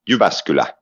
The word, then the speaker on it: Jyväskylä: Okay, hey, I want you to try to pronounce this. Jyväskylä. Jyväskylä.